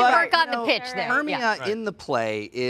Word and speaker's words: Hermia: Okay, and maybe I'm saying the name wrong. Hermia, is that right? Hermia.